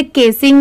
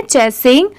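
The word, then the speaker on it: chasing: यहां पर इसे केसिंग नहीं पढ़ेंगे कि सी की साउंड क से आ रही है। नहीं इसे हम पढ़ेंगे चेसिंग।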